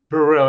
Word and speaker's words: Burrill: Please tell me I'm pronouncing that last name right. Buril. Buril.